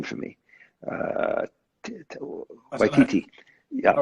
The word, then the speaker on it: Waititi: or the Scorseses, the Spielbergs, or Jojo Rabbit, pronounce his name for me, Waititi.